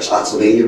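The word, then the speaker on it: Spotsylvania: um call Pepper VG slot Sylvania I'm sorry slot Sylvania Virginia it was called Wilderness presidential Resort how do you spell that uh spotv s p o TS y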